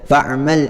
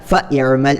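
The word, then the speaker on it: فاعمل: ഇദാ അലിംത ഫഅമൽ ബിഇൽമിക ഇഅമൽ ബിഇൽമിക എന്നുള്ള രണ്ട് ഉദാഹരണങ്ങൾ ഒന്ന് നോക്കിയാൽ നമുക്കത് മനസ്സിലാക്കാൻ കഴിയും, അല്ലേ? അതായത് ഫഅമൽ എന്നുള്ളിടത്ത് നമ്മൾ ആ ഹംസയെ ഉച്ചരിക്കാൻ പാടില്ല, ഫഇഅമൽ എന്ന് പറയാൻ പാടില്ല, മറിച്ച് ഫഅമൽ എന്ന് മാത്രമേ പറയാവൂ.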